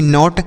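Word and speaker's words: knot: तीसरा शब्द के एओटी नॉट तो के और एन अगर एक साथ रहते हैं तो यह जो के होता है यह साइलेंट होता है इसको नहीं पढ़ते तो नोट इसे पढ़ते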